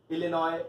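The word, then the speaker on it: Illinois: सो इट्स अर्कैनसस AR, Connecticut CT, इलिनॉय IL, Louisiana LA, Massachusetts MA, Mississippi MS, new Hampshire NH, Ohio OH and Tennessee TN।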